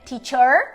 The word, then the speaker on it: teacher: E tem mais um detalhe aqui, que é esse apóstrofozinho antes da sílaba T, que significa o quê? Quem assistiu ao primeiro vídeo já sabe, significa que essa é uma sílaba acentuada. Então não é teacher, é teacher.